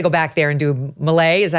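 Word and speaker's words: Milei: You got to go back there and do Malay, is that how you pronounce it, again?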